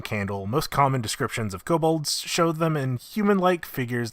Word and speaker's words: kobold: jobber enemies of dnd the kabul the kobold not the kabobs occasionally kabold spelt with